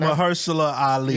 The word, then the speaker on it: Mahershala Ali: I wanted you to mention him because I can't pronounce his fucking name. Mahershala Ali, that's his name.